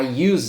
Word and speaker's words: use: I use it. You don't pronounce the letter E. And the letter S, it has a Z sound.